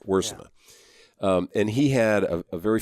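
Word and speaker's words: Wiersema: How does he pronounce his name? Wursema. Wursema.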